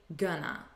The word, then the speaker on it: gonna: to and we say gonna but notice again the pronunciation it's not with an O sound it's with a you good gonna repeat gonna she's gonna be repeat